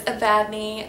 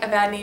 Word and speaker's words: Evadne: And I think someone who likes Evelyn might like Evadne because they're both three-syllable names that start with E-V.